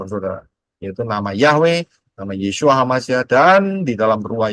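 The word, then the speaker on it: ישוע: pintu keselamatan yaitu melalui Yod Shin wau Ain bacanya yesua karena siapa berseru Siapa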